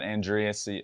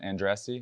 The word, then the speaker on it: Andriese: Matt Andriese, and how do you say it? Andriese? Andriese.